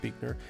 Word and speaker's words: Buechner: I used to call it Buckner, but I think it's Buechner.